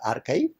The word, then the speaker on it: arXiv: second example is archive it is spelled as arXiv but pronounced as archive that was started in